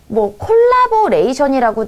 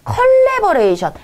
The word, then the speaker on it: 컬래버레이션: 자, 다음에 여기 콜라보레이션이라고 나와 있는데, 자, 얘도 발음 기호를 따지면요. 이 발음입니다. 얘는요, 발음으로 나기 때문에 사실 콜라보레이션이 아니라 컬래버레이션.